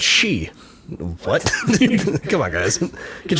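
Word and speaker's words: sidhe: a what oh yeah the word is s d h e oh yeah that's she what come on guys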